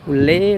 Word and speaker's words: Ulee Lheue: Nah, ini pelabuhan penyeberangan Ulelewu tulisannya bisa lihat kan Ulele Lewu bacanya ulele.